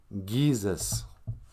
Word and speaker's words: GIIZHIGAD: G's are pronounced Gi. GIIZHIGAD. So I don't know why I'm sounding so annoyed.